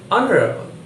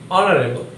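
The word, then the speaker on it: honorable: লক্ষ্য করো, শূন্যস্থানের পরের শব্দটির উচ্চারণ অনারেবল। উচ্চারণটা কি হচ্ছে? অনারেবল।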